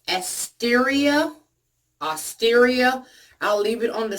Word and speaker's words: Asteria: The company, I believe, is pronounced Asteria.